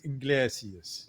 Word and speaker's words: Iglesias: And, is that how you pronounce his name? I never Iglesias. Sure. Iglesias.